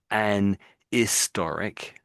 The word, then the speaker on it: historic: But we don't always put the H in but we just don't pronounce it often as not.